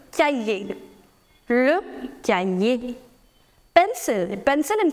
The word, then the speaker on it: cahier: Remember, the letter H in French is always silent. So do not pronounce it as cahier. No, c'est le cahier.